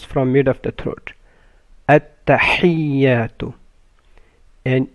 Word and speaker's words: التحيات: mid of the throat التحيات and يا has the شدة so you make it double you don't say تحيات but you say تحيات التحيات لله لام of